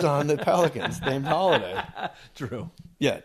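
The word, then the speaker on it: Jrue: Drew. Yeah, Drew. J-R-U-E. I love that spelling, by the way. Yeah, pronounced Drew.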